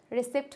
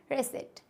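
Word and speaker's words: receipt: हो जाएगा ये रेस रिसिप्ट होता है क्या नहीं रेसट तो यह थे हमारे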